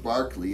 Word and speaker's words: Berkeley: in this sequence is George Barkley it looks like Berkeley Barkley why'd I do that Maya why have they spell it that way if you want it